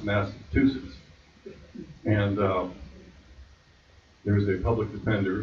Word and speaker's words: Massachusetts: In that room was a judge who couldn't even pronounce the state I was from, which is Massachusetts, not Massachusetts.